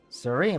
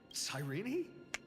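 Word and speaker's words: Cyrene: Sirene. Sirene. I don't know why I've always pronounced Serene, but like I always said all the time, I'm not good with name in this game.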